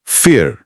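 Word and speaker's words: vier: हां इस पर हम आएंगे आगे है फोर फियर इसका प्रोनाउंसिएशन बिल्कुल इंग्लिश के फियर शब्द जैसा है।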